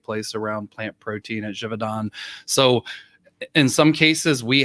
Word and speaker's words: Givaudan: With Givaudan, I think as I'm saying with the French pronunciation, it's okay.